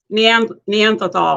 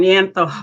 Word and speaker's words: Neanderthal: Is that we're at that Neanderthal. I keep saying it wrong. Neanderthal.